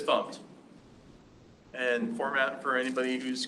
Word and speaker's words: fmt: You gotta just take the U out of it and pronounce it FUMPed.